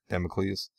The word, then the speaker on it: Damocles: How do you pronounce it? It's Damocles.